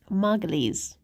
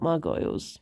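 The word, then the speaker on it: Margolyes: This is how you've been saying your surname all this time Margalles. Um, not Margo. Like I thought it was like gargoyle but Margo means you need less caffeine. It rhymes with testicles.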